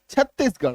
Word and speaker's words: छत्तीसगढ़: गढ़ है ना, चित्तौड़गढ़, छत्तीसगढ़, तो ये गढ़ का जो स्पेलिंग है, गढ़ का जो उच्चारण है, इसी में, सिर्फ और सिर्फ इसी में आपका ढ होगा आर का उच्चारण।